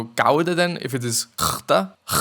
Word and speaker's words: Gouda: And apparently, the G is actually pronounced like it is just like the German CH, if you know that.